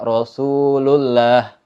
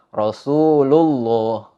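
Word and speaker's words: رسول الله: dibaca Allah Rasulullah didahului sebelum kalimat Allah itu ada harokat dhomah Rasulullah bertemu dengan lafaz Allah maka dibacanya Rasulullah nggak dibaca kalau ada yang baca Rasulullah itu cara bacanya Salah tapi yang benar dibaca tebal Rasulullah atau kalimat yang lain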